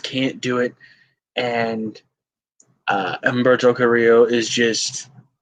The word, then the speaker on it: Carrillo: Yeah, how they pronounce it, right? Carrillo. Yeah, I have a hard time rolling. I'm white. I have a hard time rolling my R's.